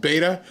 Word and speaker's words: Beto: It's pronounced Beta. It's not Beto.